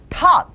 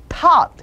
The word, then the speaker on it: taught: thought가 아니라 thought 한 번 더 thought 한 번 더 thought 가르쳤다 taught 한 번 더 taught 그렇죠 가르치다 이거는 약간 어에서 아 쪽으로 벌리는 발음 우리에게는 없는 발음이라고 생각하시면 되겠어요 다시 한번 그래서 이